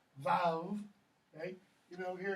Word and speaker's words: vav: Though, in most scholars say that's actually pronounced vav.